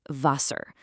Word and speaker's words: Wasser: The W is a V, giving us "Wasser".